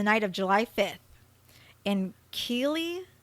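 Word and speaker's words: Keighley: of July 5th in key I don't know how to pronounce that ke e i g h l e y key is how I figured it was pronounced he attacked 36-year-old Anna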